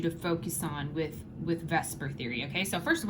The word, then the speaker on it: VSEPR: focus on with with vesper theory okay so first of all this is pronounced i know it says veseper but we call it vesper theory okay i don't